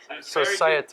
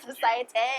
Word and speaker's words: Societe: Societe. You may have heard of that. Yeah. So, is that the correct pronunciation? Societe. Very good Societe.